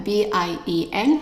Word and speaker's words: bien: So when you see an I-E-N in French that is followed by a consonant that is not an N, you pronounce it ya, ya. So let's say when you have a B-I-E-N, how would you pronounce it?